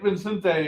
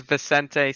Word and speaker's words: Vicente: all right let's get Vincente on here how you say that Jack how do you say it that's pretty close uh my full name is Vicente and my nickname is Chente oh well I'm gonna